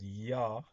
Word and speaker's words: Yah: Side note, these two words Yod and Heh, which which when pronounced gives the word Yah.